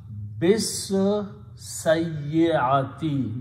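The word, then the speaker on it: بالسيئة: Now when you recite, combine ba with the seen, you do not pronounce anything in between. It becomes bis sayyati, that's the word in the Quran, with the bad deed.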